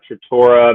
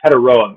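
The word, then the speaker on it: Tetairoa: Uh, Trtoria McMillan is a sure thing. I think it's how you say his name. Or sorry, Tedaroa McMillan.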